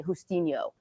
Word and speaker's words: Justino: And then Justin say Justino would be the Spanish pronunciation.